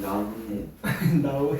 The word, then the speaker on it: 나뭇잎: 나오이 아니 나뭇잎 빨리 발음해봐. 어떻게 발음해? 나뭇잎 나뭇잎 이렇게 발음나. 그래서 니은이 첨가되니까 시옷이 들어간다 이 말이에요.